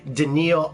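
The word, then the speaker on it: Daneel: Denny or something like that it's Daniel it's pronounced daniil Oliver that's who I was specifically who I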